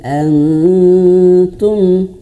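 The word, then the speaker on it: أنتم: Antum, kebanyakan itu kita bacanya nunnya itu masih nyentuh. Ini lidah ya, ini lidah. Kemudian antum, bukan antum, tapi jadi lidahnya itu tadinya menyentuh huruf nun tapi direnggangkan lidahnya gitu ya.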